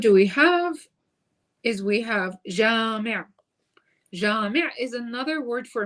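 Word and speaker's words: جامع: It rhymes with talib. So you would say Jami', another word for masjid.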